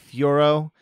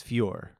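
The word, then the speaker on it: Fiorot: fioro yeah i think they used to say it like fioro which i always thought sounded like the pokemon fiero and that was why i'd always post gifs of furo but apparently it's fewer fewer pure men firo or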